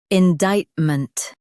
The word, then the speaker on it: indictment: in dict ment indictment Stress dict and keep ment light.